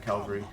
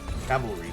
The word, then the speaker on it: cavalry: is fast on that Calvary Calvary how you say it Cavalry there you go did not think how